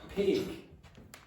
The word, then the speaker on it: pig: And now I'm exaggerating it a bit, but this one here is a longer vowel than that. P. one pig two bit longer. Okay. So, as well as having the voice in here and no voice in here, this sound is shorter than that sound.